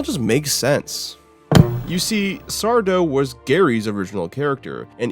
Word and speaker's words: Sardo: the grand Return of Mr sardo or rather as I should say it's just sardo no mister and Accent on the dough but man did I